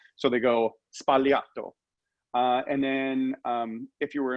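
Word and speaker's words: Sbagliato: So this cocktail, as you were mentioning, is pronounced spagliato. So when you're in Italy, the enunciation of things like the B is very, very minimal. So they go spagliato.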